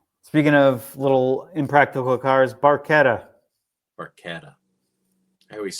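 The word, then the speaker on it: barchetta: Well, in Italian, when you have a C and an H together, they make a K sound because there's no K in the Italian alphabet.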